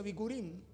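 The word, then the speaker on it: בכורים: Que en la raíz hebrea, le decía, también se pronuncia bikurim, que significa primeros frutos, o bikurim, que significa la promesa está por venir.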